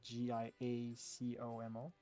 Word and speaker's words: Giacomo: um yeah well yeah they spell it with a g here so g-i-a-c-o-m-o giacomo giacomo he says it means